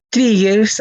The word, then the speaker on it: trigger: Acá se pronuncia con I. Trigger.